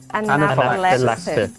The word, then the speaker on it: anaphylaxis: Anaphylaxis. Yeah, there's 5 syllables. Anaphylaxis.